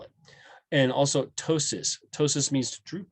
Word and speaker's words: ptosis: spell it and also ptosis ptosis means droop right and uh pt ptosis see we don't really say the p they don't say ptosis